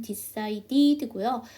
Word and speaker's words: decided: 이렇게 t의 발음으로 끝나게 된 뒤에 ed를 붙이게 되면 ed가 되겠죠. 그래서 이걸 천천히 다시 한번 해보면 decided고요. D 사운드는 T 사운드와 사촌이고 모음과 모음 사이에 꼈기 때문에 한 번 더 약화해 주실 수 있습니다.